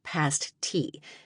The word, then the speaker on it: pasty: Pauline explained the history of the pasti, pronounced past tea, and not to be confused with the bits of adhesive boob covering.